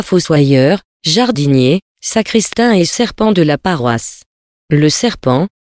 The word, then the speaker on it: sarpent: que sous le nom du serpent ou plutôt serpent car ainsi prononce on par là le serpent avait une